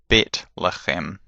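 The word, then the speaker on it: בית לחם: The soft sound is th, where we get names like Bethlehem, Jonathan, and so on and so forth. But in modern Hebrew it's Bet-lechem, so there's no th in it anymore.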